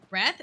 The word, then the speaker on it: wreath: Why didn't they just spell it R-E-E-T-H? Why did we add a W there? This is why people don't like English. The good old silent W.